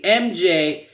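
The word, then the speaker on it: EMJAY: sponsor for this episode mj delivery spelled e-m-j-a-y phonetically mj these guys are a fantastic delivery service i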